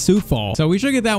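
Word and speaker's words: Coufal: You guys also said it's not Kufal, it's Sufal.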